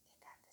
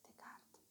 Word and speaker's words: Descartes: Hoy tenemos a Descartes, o Descartes sería así en español, pero es Descartes, bien pronunciado.